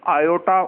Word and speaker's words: iota: Equals to F नॉट ई टू the power आयोटा omega T. This is the right pronunciation.